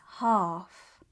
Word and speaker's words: half: half But it's half. The L is silent, but it changes the vowel sound, making it longer and deeper.